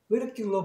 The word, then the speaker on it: ridicule: 명사로는 뭐 너무 웃긴 것, 뭐 웃음, 뭐 조롱, 뭐 이런 뜻인데 명사니까 그때는 액센트가 여기 있단 말이에요. 그러니까 ridicule로 발음을 해요.